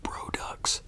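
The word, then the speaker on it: BRODX: ordered um a fragrance from a company called bro that's how you pronounce it b-r-o-d X I wanted to order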